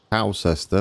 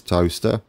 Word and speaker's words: Towcester: It's not Towcester or Towcester. It is Toaster.